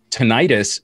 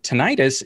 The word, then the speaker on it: tinnitus: Tinnitus should be very concerning. Tinnitus is, or tinnitus, depending on how you pronounce it.